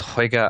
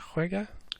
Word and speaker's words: juega: Usted juega al baloncesto.